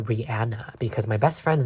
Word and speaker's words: Rihanna: them by the way apparently her name is pronounced rihanna because my best friend's name is rihanna and